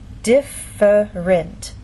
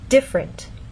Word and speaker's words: different: syllable and down here the word different in very slow careful speech and especially formal speech you might get this pronunciation differerent but often in fast speech you lose that middle sound and you get different so again how do